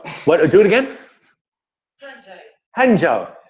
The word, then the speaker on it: Hangzhou: Hangzhou just says, "Do you know how many Chinese people admire your mustache?"